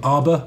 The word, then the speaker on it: Arbr: So we've also seen a new bike this week from Arbr, which I believe is pronounced like Harbour, but in Whitby.